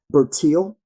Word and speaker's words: Bertil: Um, you mentioned, and if I'm saying her name wrong, forgive me. Correct me. Bertil.